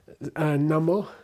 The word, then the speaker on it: namo: Namo is namas which means I bow to you. Namaste means I bow to you. So namaste. But before uh this voiced uh consonant the us changes to o.